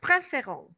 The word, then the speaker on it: préférons: Porque estamos pronunciando la terminación final. ¿Ok? Nous préférons.